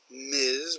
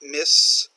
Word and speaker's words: Ms: to ms Kesha Scott MS remember we've talked about is could be a married or a single woman and that is pronounced MS okay not miss not missus but ms ms Kesha Scott micro